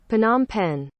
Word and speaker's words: Phnom Penh: Now, how the hell do I pronounce it? Phnom Penh.